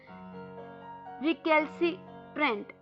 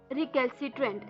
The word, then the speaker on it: recalcitrant: जो 12वां वर्ड है शाम का वो है रिकैल्सिट्रेंट। रिकैल्सिट्रेंट, जी हाँ दोस्तों, वर्ड थोड़ा सा अटपटा है बोलने में।